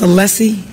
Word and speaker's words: Alessi: Is your name pronounced Alessi? Yes, my first name is.